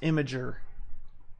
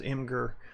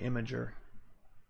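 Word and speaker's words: Imgur: it says um yeah it is pronounced imager I used to call it I used to say it was anger but it's actually imager it looks like injury why is your stream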